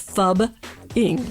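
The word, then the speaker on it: phubbing: It's fubbing, just like it sounds. PH. See, it sounds like F.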